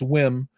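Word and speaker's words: WiiM: Rune was there with Weem or Wim. I've been saying it wrong. It's not Weem, it's Wim.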